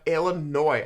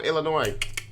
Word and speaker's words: Illinois: larger next we on the list we have illinois i used to pronounce this illinois and then people are like